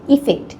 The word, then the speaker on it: effect: তার মানে আজকের লেসন থেকে আমরা জানলাম এফেক্ট এবং ইফেক্ট দুটি ভিন্ন শব্দ। এদের উচ্চারণ পার্থক্য আছে। আফেক্ট ইফেক্ট। আফেক্ট। ইফেক্ট।